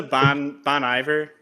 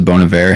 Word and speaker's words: Bon Iver: to Bon Iver like yeah apparently how you're supposed to say it like I found that out like a couple weeks ago and I'm like wait what I've never heard anybody say it like that but like I don't know I guess that's how you say it like I don't think I think every person that listens to bonavir has to be corrected on like because I remember